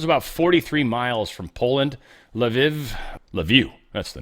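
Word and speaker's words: Lviv: This is how bad I am with some of these pronunciations. But Lev is the name of that.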